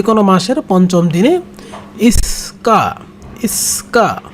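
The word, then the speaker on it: 五日: ইক্কা, উচ্চারণটা হবে এরকম যে ইক্কা, সরি ইক্কা না, ইস্কা, মানে এটা একটু বড় হবে, একটু ভুল হয়েছে,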